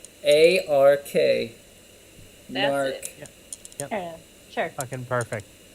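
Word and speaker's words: Gnark: There's a silent G at the start, Blake. Yeah. Like gnome. G-N-A-R-K. That's Narc.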